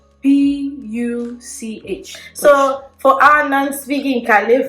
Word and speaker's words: Puch: It's Puch. P-U-C-H. So for our non-speaking Kale friends, right, we have a problem with P and B. It can be written as P, but it's pronounced as B.